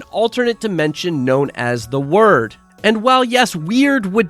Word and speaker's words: Wyrd: Dimension known as the word and while yes weird would definitely fit the description of this alternate Dimension it is pronounced word as that is the original Norse origin of it for those of you